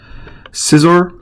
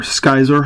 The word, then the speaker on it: Scizor: So Jirachi from Crystal Guardians, Scizor, or Skyzor, however you want to pronounce it, so many ways.